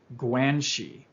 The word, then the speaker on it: guanxi: Now, Wu explains this through the use of a Chinese concept pronounced guanxi, G-U-A-N-X-I, which is essentially to have a relationship with.